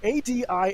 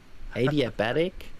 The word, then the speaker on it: adiabatic: thermodynamics called oh my god i'm going to mispronounce this uh what do i want to try okay a-d-i-a-b-a-t-i-c cooling adiabatic adiabatic thank you yeah i don't know but